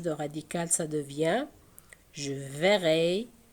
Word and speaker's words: verrai: Ça change de radical, ça devient je verrai. Donc, puisque E est suivi de deux consonnes identiques, ce sont les deux R, il se prononce et.